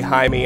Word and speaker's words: Jaime: clarify when I say hi me I am not uh engaged in slurs against the Jewish people that's how they pronounce the j-a-i-m-e name in this game just fun to make